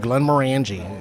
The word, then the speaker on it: Glenmorangie: 1.5 ounces of Glenmorangie.